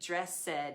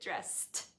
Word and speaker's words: dressed: voiceless sound try it yeah looks like dress said or something but it's not how we pronounce it dressed okay so we get